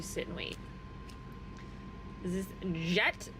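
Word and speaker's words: Jecht: Is this Jet? J E C HT. Jet.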